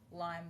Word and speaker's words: Lyme: You drop the S. It's one singular Lyme with a Y. You don't need multiple. Let's keep it down to one.